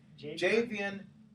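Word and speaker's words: Jadeveon: First of all, how do you pronounce his name? Jadevon? Jadevon? Or just Mr. Clowney? Javian Clowney.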